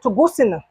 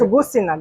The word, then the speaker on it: Tuguscina: And let me make sure I pronounce this correct, because it is a Garifuna word, Tuguscina. Tuguscina. Yes, Tuguscina, Garifuna.